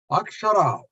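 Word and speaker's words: अक्षर: It's got 3 syllables. A, Sha, and Ra. A, Sha, and A is the first letter. Sha is the middle one. The last letter is R.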